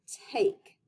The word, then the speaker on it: take: Take. Take. Oh, I hear A say her name. And yes, there's a super silent E to give A power to say her own name.